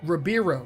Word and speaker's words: Ribeiro: Ribeiro. That's how you pronounce it.